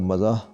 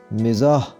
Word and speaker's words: مزاح: دیتے ہیں کہ آپ مزاح مزاح، تو اس کا صحیح تلفظ ہوگا میم کے نیچے زیر پڑیں گے، صحیح پڑھا جائے گا مزاح، مزاح۔ استفادہ، استفادہ، مجھے